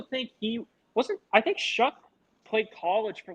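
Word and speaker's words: Shough: Yes, it's that last name's weird. It's for how it's spelled, but it's Shuck out of Louisville.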